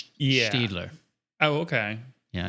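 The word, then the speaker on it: Staedtler: Um it looks like it's pronounced Stadler, but I think it's a German company. It's actually pronounced Stler. It's like between an E and an A. Yeah. Steedler.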